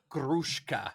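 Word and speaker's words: Gruszka: As Sue's husband, Petrect, and Karolina Grushka, I had to look up how to say her name. I love this. You're doing so good. It feels Gruska, you have to roll the R, as the lost girl.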